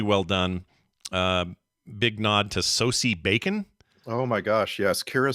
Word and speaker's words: Sosie Bacon: It's pronounced Sosie Bacon.